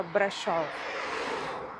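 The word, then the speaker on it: Brașov: Eh, se escreve Brazov, mas no romeno, né, no idioma deles, o S se pronuncia com som de X, aí fica brechó.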